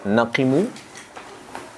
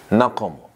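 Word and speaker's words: نقموا: waaba mengingkari dan mencela Sebagian ulama ada yang membacanya naqimu Ada pula yang membacanya naqomu nah yang paling fasih adalah naqam naqamtu minhu itu yang paling fasih ada yang membaca naqimtu minhu itu eh kurang fasih minhum ya minnya itu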